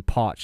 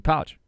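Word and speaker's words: Pauch: pronounce his last name it was Billy Potch instead of Billy pouch so I'm standing there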